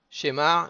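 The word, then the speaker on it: שמע: Shemar, il faudra le prononcer milera. Donc on mettra l'accent sur le ma et pas sur le she.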